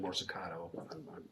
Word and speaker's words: Morsicato: And Your Honor, that I just think is not appropriate under, again, we're talking about Morsicato, and it's actually Morsicato. I just mispronounced his name.